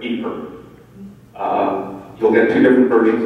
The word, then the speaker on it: Ypres: Ypres, which is a preferred pronunciation now, not Ypres, Ypres.